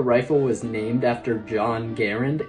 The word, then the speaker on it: Garand: people often tell me I'm pronouncing M1 Garand wrong because I say it Garand and that's